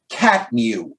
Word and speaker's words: CTMU: fans off and he even said the ctmu pronounced catmu now now i'm sure